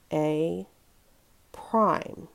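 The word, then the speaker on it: A′: So when you see that little figure or that little apostrophe up at the top, we pronounce it with, we say the letter and then use the word prime afterwards.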